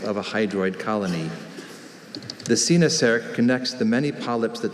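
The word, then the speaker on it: coenosarc: Sinasarc. C-O-E-N-O-S-A-R-C. Sinasarc.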